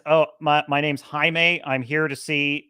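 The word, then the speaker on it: Jaime: oh my my name's haime I'm here to see J Jenny cord and he's like oh Jamie okay cool he's like no no no it's pronounced haime because it's spelled j a i m that's how the name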